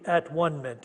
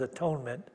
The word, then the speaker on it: atonement: all joined in the at one minute she doesn't pronounce that as atonement that's at one minute here in this world